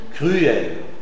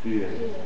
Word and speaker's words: cruel: l'articule pas comme semivoyelle on l'articule comme voyelle pleine on prononcera u u par exemple afflué afflué obstrué obstrué cruel cruel alors c'est pas une diftongue ce sont deux syllabes différent afflué, obstruée, cruel.